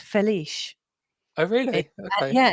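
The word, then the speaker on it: Félix: Felix is pronounced Feliz.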